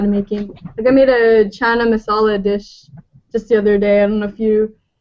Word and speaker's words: chana masala: stuff like that, and making I made a chana masala dish just the other day.